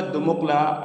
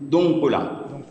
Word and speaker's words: دنقلة: فبلاد النوبة مدينتها أو مركزها عاصمتها كانت دمقلة، وكلمة دمقلة اليوم نحن نقول لها ننطقها باسم دنقلة.